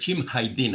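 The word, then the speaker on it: Hajdinaj: Uh, correct name is Haidin. I pronounced S H K E L Q M.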